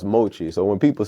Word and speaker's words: MOCHII: Um and Machi uh is which is it's actually pronounced Mochi.